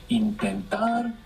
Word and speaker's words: intentar: Intentar, intento. Good, the accent. Intentar, we have the accent on the end.